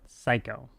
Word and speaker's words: psycho: Why we write psycho and pronounce it psycho?